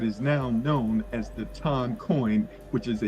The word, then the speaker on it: TON: It's considered the fastest blockchain worldwide, and it's actually pronounced Ton, by the way, but you can pronounce it the way that works for you, right?